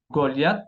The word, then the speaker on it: Goliath: Goliath se pronuncia la T, pero la H no se pronuncia.